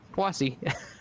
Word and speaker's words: Poissy: I went to Google Translate and had it pronounce it for me, and it's Poissy.